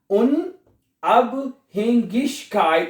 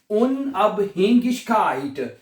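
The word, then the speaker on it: Unabhängigkeit: गाफ की अन उब उन अब हेंगिश काइट और हग काइट जहां पे आई जी इकट्ठा आता है उसको गाफ या श की दोनों आ प्रोनाउंस कर सकते हैं आप ठीक है तो ये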